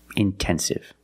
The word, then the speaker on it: intensive: But if the stress is after NT, then you have to pronounce the T like a pure T. Intensive.